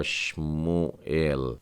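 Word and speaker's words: שמואל: इस शब्द को पढ़ेंगे, ये हो जाएगा शमुएल, है ना, हम लोग सैमुअल या शमुएल कहते हैं, ये लिखा है शमुएल।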